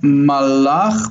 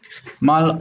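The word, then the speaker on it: מלאך: Okay, you need to stop after the lamed. So it's not malach, but mal, stop, ach. Malach.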